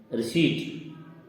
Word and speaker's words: receipt: इसी प्रकार दूसरा शब्द है रिसीट, इसमें P साइलेंट है, RECEIPT, रिसीट, लेकिन इसको पढ़ा जाता है रिसीट।